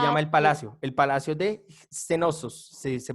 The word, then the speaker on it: Cnosos: palacio de Cenosos, se pronuncia así, Cenosos, así se pronuncia, ¿vale?